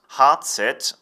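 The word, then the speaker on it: Hazet: since the Middle Ages heart set stands for the German pronunciation of the letters H and Z which is heart and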